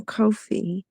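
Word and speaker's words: Ko-fi: He just donated to me over on Kofi. Katie is pronounced Kofi.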